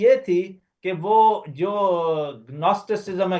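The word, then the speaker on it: Gnosticism: اور وہ بدعت کی یہ تھی کہ وہ جو گنوسٹسزم ہے، جی سے کر رہا ہوں کیونکہ جب آپ اس کے سپیلنگ کریں تو جی کو تھوڑا سا سائلنٹ کر کے، لیکن یہ یونانی زبان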